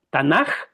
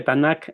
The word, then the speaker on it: Tanaj: A veces se escribe el final con K de kilo o con J. Tanaj es correcto o Tanac con cada kilo. Creo que Tanac es más correcto y luego les explico de dónde viene ese nombre.